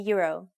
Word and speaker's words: euro: Finland uses the same currency as most countries in the European Union, the euro. Please be careful with the pronunciation though. It's a bit different from English. In Finnish we say euro.